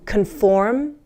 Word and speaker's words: conform: Oh, pronunciation wise, listen. Conform, confirm. Do you hear the difference? Conform with an O, conform, confirm with an I.